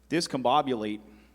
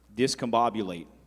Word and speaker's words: discombobulate: Shah, if your word is discombobulate. May you please repeat the word? Discombobulate. It could also be pronounced discombobulate.